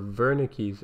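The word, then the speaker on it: Wernicke: brain and one called W's area or verik area depending on if you want to use the true German pronunciation and these two areas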